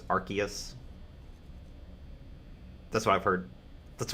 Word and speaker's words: Arceus: eos or rcs um according to a voiced uh pokedex where they say the name of the pokemon it is arceus like noah's ark um mainly because i'm